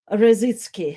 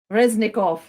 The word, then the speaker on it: Reznikov: station was expressed by ministry of defense alexei razitski harassing sorry my pronunciation is reznikov yes alexis alexi reznikov and maybe let's uh